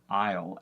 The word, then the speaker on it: isle: where she said Island it's the same thing with Isle except that it's even more short and even more confusing because there's not a whole lot there a I just thought of the